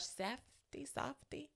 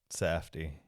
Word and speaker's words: Safdie: And Josh Safdie. Safdie. Oh, I like Safdie better. Safdie. Maybe it is Safdie. I don't know. I feel like I've only heard it said Safdie.